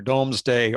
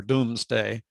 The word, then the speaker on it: Domesday: it up today and there are two pronunciations and they're not very close either domesday or doomsday but what it is